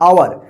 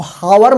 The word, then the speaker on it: hour: घंटा समझते हैं ना, जो 1 घंटा 2 घंटा बोलते हैं ना, आवर मतलब होता है घंटा, HOUR, इसको हावर मत पढ़िएगा, हावर गलत हो जाएगा।